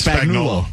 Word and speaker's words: Spagnuolo: I can never pronounce it. That's Spagnuolo.